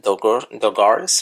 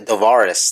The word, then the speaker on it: Dovaris: Douglas, like I call him, Dogaris or something. I don't even know how to say it. It's Dovaris. There you go, Dovaris.